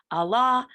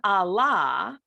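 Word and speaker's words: ἀλλά: However, for the conjunction Allah, the accent is on the second alpha. For this, the accent is on the first alpha.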